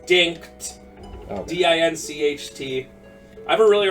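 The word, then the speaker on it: Dincht: tell you punch and it worked it's dinked d-i-n-c-h-t I have a really hard time pronouncing things with CHT so dick dink on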